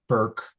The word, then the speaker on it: Bourke: But between now and then, to get more, her website is her name, Hannah Bourke, although it's spelled B-O-U-R-K-E.